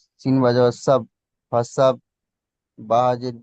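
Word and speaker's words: فسبح: ফা যাওয়ার ফা, সিন বাজাওয়ার সাব, ফাসাব, বা হাজের বি, ফাসাব বি, বড় হা উচ্চারণ বা করেন, বা ফাসাব্বিহ।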